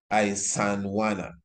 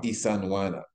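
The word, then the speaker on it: Isandlwana: as the Battle of Isandhlwana or Isandhlwana. Now, Isandhlwana, Isandl, but the L is silent, Wana.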